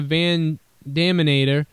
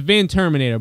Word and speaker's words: Van Terminator: clean RV hitting a van daminator and Sandow not capitalizing it's a van Terminator by the way guys uh just because Michael Cole said it wrong doesn't mean we all